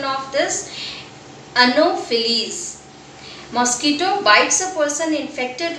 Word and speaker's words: Anopheles: What is the pronunciation of this? Anopheles.